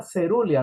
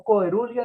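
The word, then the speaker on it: cerulea: Las cerúleas son, y se pronuncia cerulia, no coerulia ni caerulia, ¿ok?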